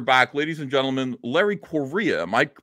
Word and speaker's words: Correia: Ladies and gentlemen, Larry Correa. Am I pronouncing that correctly? Yeah, Korea, just like the country.